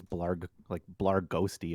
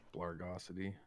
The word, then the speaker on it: Blargosity: You pronounce that Blargosity? I was saying it as Blarghosty in my head for so long. Definitely got to be Blargosity.